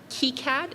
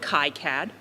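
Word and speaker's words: KiCad: I learned today is pronounced kead and not Kad uh but the way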